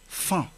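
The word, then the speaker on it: faon: lettre C est muette il y a également le mot fa fa qui s'écrit avec o n à la fin l'orthographe étant fa a o n même si vous avez vu ou bien vous avez entendu la lettre O et la lettre N vous n'allez pas lire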